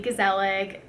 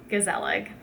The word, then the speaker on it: Gezellig: It's not even pronounced gezellig to the native Dutch speakers, but I don't speak Dutch, and neither does most people in America. So I just pronounce it phonetically, gezellig.